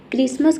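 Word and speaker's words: Christmas: क्रिसमस का मतलब होता है क्रिसमस। इसमें भी देखिए टी को हम नहीं पढ़े लेकिन इसमें क्या आ रहा है?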